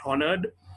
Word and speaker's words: honored: So in the word honored, it's the H is silent. So it's not honored, it's honored.